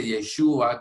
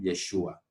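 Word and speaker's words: ישוע: qué significa verdaderamente, y debería decirse Yeshua, que es como su nombre se pronuncia en el hebreo, ¿no? Yeshua.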